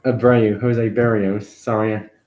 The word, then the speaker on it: Barrios: Valdez, Corbin Burns, Sonny Gray, Zach Greinke, Jose Barreu. Not Abreu, Jose Barrios. Sorry, I mispronounced his name.